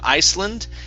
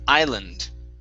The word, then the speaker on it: island: the word island okay the s is silent instead of iceland it's island island good next is uh perhaps